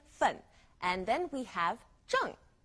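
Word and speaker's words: zheng: and then we have Jung z h e n g Jung now don't forget to pronounce the G on Jung it's Fourth tone as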